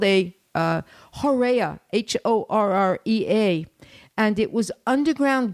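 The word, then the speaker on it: horrea: i'm i have to make sure that i pronounce this uh correctly it's called a uh horea h-o-r-r-e-a and it was underground galleries that the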